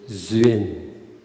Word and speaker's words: duyên: The word duyên, but we pronounce duyên.